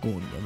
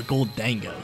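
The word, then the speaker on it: Gholdengo: Do you guys pronounce it Golden Go like me or Goldango? Some people pronounce it Goldango. I've been hearing half and half.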